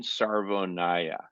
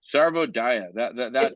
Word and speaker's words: Sarvodaya: But it's called, drum roll, American Sarvonaya. But Oh, it's Sarvo Gaia. It's a D, not an N. it's Okay, Sarvonaya. Sarvodaya.